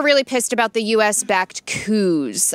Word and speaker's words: coup: The students were really pissed about the U.S.-backed coups. I believe it's not coupe glass, although it's spelt that way.